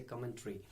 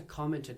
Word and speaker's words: commentary: talk about the commentaries, the word commentary, people, they mispronounce it somehow, they say commentary. I'm sorry for this if you're hurt, but it's a commentary. The word is commentary.